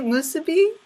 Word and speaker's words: musubi: How do you say musubi?